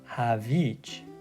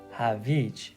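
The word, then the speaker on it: هویج: doesn't sound quite right you are pronouncing it correctly with the whole ha and the vi but the emphasis is not quite right and this is why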